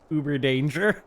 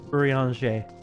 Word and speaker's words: Urianger: Uber danger.